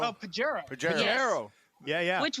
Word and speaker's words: Pajero: Padero. Oh, Pajero.